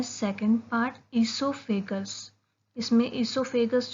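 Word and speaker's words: oesophagus: आता है second part, ईसोफेगस। इसमें ईसोफेगस जो है इसमें ओ साइलेंट है, इसलिए हम इसको ई से प्रोनाउंस करना स्टार्ट करते हैं।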